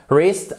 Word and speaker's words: wrist: Wrist, pensez à to write. On ne prononce pas le W.